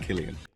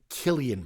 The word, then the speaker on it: Cillian: San Murphy's character and it's pronounced Killian all right sorry Killian Murphy's character most notably the